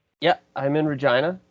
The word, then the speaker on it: Regina: Yeah, I'm in Regina, the city that rhymes with fun.